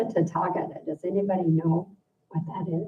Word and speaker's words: Tathagata: Tathagata?